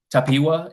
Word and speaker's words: Tapiwa: I see Tapiwa, if I'm pronouncing that correctly. Yes, that's correct.